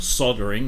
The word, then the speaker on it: solder: You know, it's there's no soldering involved, or soldering if you're American. That's just the weirdest thing, isn't it? How the Americans say solder. I mean, it's got an L in there for crying out loud.